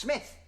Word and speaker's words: Smythe: Carrington Smythe, pronounced Smith.